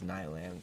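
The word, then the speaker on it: Kneilands: I think it's Nylands because the K is silent.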